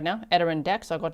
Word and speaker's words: Adirondacks: Adirondacks. I got like 100 emails and millions of comments. People trying to help me pronounce it, but Adirondacks, okay, near Paul Smith's College and close to the Canadian border.